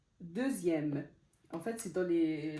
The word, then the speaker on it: deuxième: j'ai écrit ici dixième deuxième en fait c'est dans les la plupart c'est dans les nombres en fait quand le X se prononce z z et on va voir